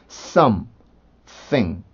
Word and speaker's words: something: 근데 이제 우리나라 발음에는 없는 형태잖아요. 이 TH 발음이. 그래서 M 발음에서 혀를 꺼낼 때 학생들이 어려워하는 경우가 있는데 그게 발음을 정확하게 하지 않으면 우리나라의 something처럼 들릴 수가 있거든요. 그러면 외국 사람들은 이걸 S로 받아들일 확률이 커요. 그래서 이해를 못하지는 않겠지만 그래서 조금 더 정확히 하기 위해서는 어렵더라도 이렇게 혀를 부드럽게 움직여주는 연습을 해주셔야 돼요.